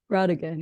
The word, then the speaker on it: Brautigan: And this is inspired by the works of author Richard Brautigan. Am I pronouncing that right? Rodigan, yeah.